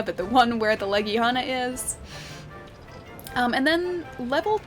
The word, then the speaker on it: Legiana: And it's Legiana. It's not like Legana. It's not anything else. It's Legiana. Even though it sounds weird, it's apparently accurate.